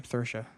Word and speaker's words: Saoirse: Johansson for Maj story Saoirse Ronan we're gonna say her name Saoirse it's not spelled like that at all so sure Ronan for a